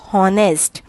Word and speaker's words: honest: or pronounce it as honest it is called as honest h is silent over here now we move to